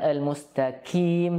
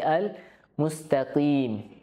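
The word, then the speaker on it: المستقيم: merupakan huruf-huruf itbaq ya Namun kita juga harus perhatikan huruf q jangan sampai tertukar dengan Kaf ya bukan almaqim tapi Al Mustaqim ya Maka jangan sampai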